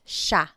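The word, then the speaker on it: siya: point out the pronunciation it looks like it should be pronounced but it's usually pronounced Sha Sha is they is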